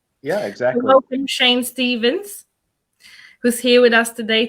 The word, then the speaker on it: Shayn Staven: Welcome, Shayn Stavens, who's here with us today to share some